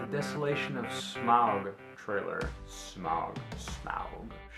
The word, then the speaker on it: Smaug: Smaug. The D is silent.